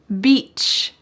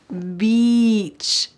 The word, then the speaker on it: beach: out by the pool Beach make sure this has an e sound beach beach some people love